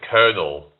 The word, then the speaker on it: colonel: Why do they pronounce it kernel? And it's colonal. I don't know. Can anyone answer that? Where the hell did they get kernel from? Where's the R? Where's Huh? Colonel. Like kernel.